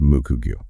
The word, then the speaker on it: Moku-Gyuu: It's pronounced Moku-Gyuu. Got it.